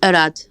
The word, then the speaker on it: Arade: Or Aradi? How do you say it? Arad. Arad. Okay.